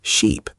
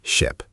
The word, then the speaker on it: ship: Sometimes, people say ship like sheep. This can also be confusing. The right way is ship.